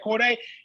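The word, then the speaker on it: Cordae: Yeah, Corday. I just recently discovered he put out an EP. I might be behind the times. It says 2021. Nice. Corday dropped a little EP.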